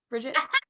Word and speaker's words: Brigitte: And because you brought it up, it's Bridget or Brigitte, just making sure. Bridget? It's spelled Brigitte, but you have to argue.